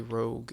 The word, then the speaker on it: rogue: how to spell it ro gue sound Alchemist not really not Rouge like Mulan Rogue rogue what was your